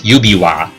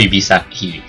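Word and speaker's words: 指輪: Alright, I just checked, yeah, that ring, right, that word is pronounced as yubiwa. Yeah, yubiwa, not yubisaki. Yubisaki means fingertip.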